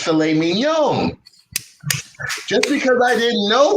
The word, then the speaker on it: filet mignon: for the gentleman ordered the philip mignon which he pronounced filet mignon just because i didn't